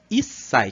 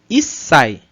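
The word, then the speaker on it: 一歳: Issai. Como tem esse tiozinho pequeno, a gente dá uma pequena pausa no som. 1 歳 Issai. Issai. Então, na romanizada, a gente teria dois S, né, para marcar isso.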